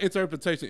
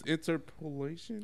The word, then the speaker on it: interpolation: a sample or inter interpolation is that how you say it cuz I know I just that up inter wait yeah I know it's like it's not interpretation it's interpolation we'll just go with